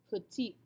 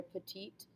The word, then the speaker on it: petite: girl however they become petite we actually use this word in english as well we just don't pronounce it with the correct accent ever hear someone say that they're petite yeah same word all